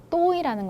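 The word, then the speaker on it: tối: 올리면서 읽게 된다. 또이 이렇게 읽게 되면 자, 이건 무슨 뜻이냐?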